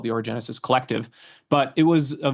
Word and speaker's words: Orogenesis: So the route the Orogenesis Route has been.